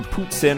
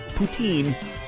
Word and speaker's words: poutine: an idiot asking for boots in or Putin or whatever poutine that is the French pronunciation so it is boots